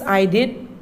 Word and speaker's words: I'd: children i'd i'd i'd the full form is i did but they should announce no children so that is i'd the pronunciation of this word is i'd i'd love